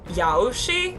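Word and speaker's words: Yaoshi: of the hunt uh Yoshi I believe is how you say his or her name is the ion of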